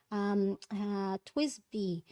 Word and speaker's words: TWSBI: So this one is the Twisby. Is that how you say it? The Twisby. TWSBI. Twisby.